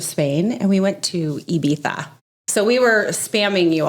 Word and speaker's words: Ibiza: Ibiza. It's a TH.